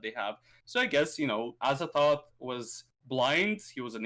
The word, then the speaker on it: Azathoth: Azathoth. It's like thought, but without the T. It's more of a T at the end. So Azathoth, but it's a Th. It's Azathoth.